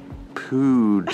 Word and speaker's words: pood: What do you think they sell at the pood shop? Okay, I know. We've seen this everywhere, but it means shop, store. Right. And it's pronounced pood, I think.